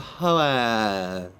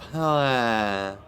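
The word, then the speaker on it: Hoeth: The lore masters of Hoath are the ones who should know, who should be the sort of experts on how it's pronounced. And they say, Lore Master of Hoath, and they trail off.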